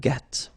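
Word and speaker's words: gris: the same no no okay G don't pronounce the S but then for the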